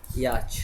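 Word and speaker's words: yacht: अगर हम लोग बोलेंगे याच कैसे लिखेंगे ये पर मात्रा या वाई ए टी सी एच याच ना यहां पर टी साइलेंट है ठीक है ना उसके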